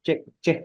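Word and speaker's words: ch'ixi: libro que se llama un mundo Che creo que se pronuncia chi es posible y ella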